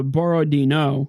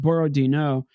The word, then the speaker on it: Borodino: Uh the battle of uh Borroino. I think that's actually how it's supposed to be pronounced. Borodino.